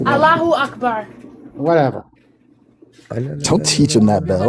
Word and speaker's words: Allahu Akbar: Allah Akbar. Yeah. It's Allahu Akbar.